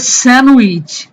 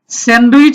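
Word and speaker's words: sandwich: এটা হবে স্যান্ডউইচ। স্যান্ডউইচ হবে না, এটা হলো এ ডি এর ডিটা এখানে সাইলেন্ট থাকবে। স্যান্ডউইচ।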